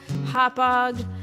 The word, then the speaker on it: Hauppauge: Passing the names of towns that are difficult for people outside New York to pronounce. Hello, Hauppauge.